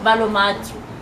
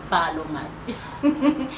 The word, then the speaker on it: BaloMatu: Okay, so BaloMatu, how we pronounce it, BaloMatu.